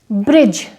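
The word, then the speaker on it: bridge: ब्रिज, जो पुल होता है उसे बोलेंगे, यहाँ पर भी जी से पहले डी है, प्रोनाउंस नहीं होगा।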